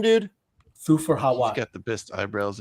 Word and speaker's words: Thufir Hawat: How do you pronounce his name, dude? Thufir Hawat.